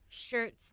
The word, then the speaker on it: Schertz: Shirts, Texas. It's Shirts? It's called Shirts, Texas. It's like SCHERTZ, but yeah, Okay, you okay. say it like Shirts. Like a shirt.